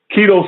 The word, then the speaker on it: Quito: Okay, his name is Keto Swan. Keto is spelled Quito.